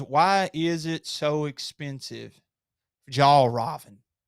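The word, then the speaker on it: Fjällräven: so much is because it has this logo, Fjall Raven logo. But I just and it's pronounced. And by the way, I looked it up online. It's Fjallraven. Fjallraven.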